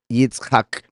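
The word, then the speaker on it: יִצְחָק: Y aquí la Tzadeh es como una TZ, o sea, Yitzhak, pero ambas significan él se reirá.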